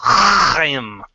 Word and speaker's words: Chaim: Right, and so, first of all, you were pronouncing a Jewish name, and I had to step in. It's Chaim.